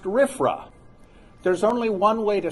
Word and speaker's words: RFRA: retired presbyterian pastor san antonio mission presbytery it's pronounced riffra there's only one way to say it but